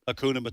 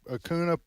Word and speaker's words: Hakuna: can't pronounce it myself Akuna it's Hakuna Hakuna Hakuna Matata Matata